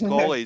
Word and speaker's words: Colley: So, Collie is actually an English name, so right, that should be good. okay. So we're good. So we've got it right. Colley.